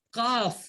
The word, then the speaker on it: calf: அதுல வந்து கால்ஃப்ல காஃப் என்னது காஃப் எல் உச்சரிக்க கூடாது ஓகேவா? எல் உச்சரிக்க கூடாது, காஃப்னு தான் சொல்லணும். ஓகேவா?